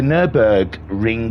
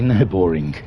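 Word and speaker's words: Nürburgring: nub ring it's the nurburg ring GP I I will try my best this evening to to pronounce Nurburgring correctly because it's so easy to say no boring so we'll try not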